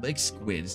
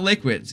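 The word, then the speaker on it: Licksquid: just like that dude lick squids dude the dude's name is lick squid squid yeah like not liquids people probably thought I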